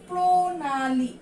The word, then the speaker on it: প্রণালী: তারপরে কি আছে, প্রণালী নাকি প্রণালী, আমরা উচ্চারণ কোনটা করি, প্রণালী নাকি প্রণালী, আমরা কিন্তু উচ্চারণ করি প্রণালী, তাই একটা ওকার হয়ে যাবে, তারপরে দন্তন্য হয়ে যাবে, তারপরে দীর্ঘিকারটা আমাদের কি হয়ে যাবে, ঋষিকার হয়ে যাবে।